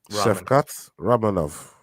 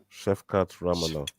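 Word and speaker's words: Shavkat Rakhmonov: in this one oh repeat after me Chef cat Chef cat ranov there you go Chef cat ranov that's how they say it yeah that's as pronounced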